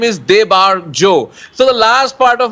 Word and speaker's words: Debarjo: up my name because I think it's because it's a 3-syllable name. Even my family people sometimes say weird things. So I said, भैया एक काम कर लो. My name is Debarjo.